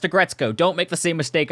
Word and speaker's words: Aggretsuko: Also, full disclosure, one of the first times I saw this automaton, I pronounced it as Agretsuko, and the internet nearly canceled me for that. It's pronounced Agretzko.